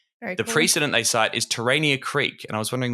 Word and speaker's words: Terania: in tan Tania Creek am I pronounce right I say terania pretty sure it's terania yeah and so it's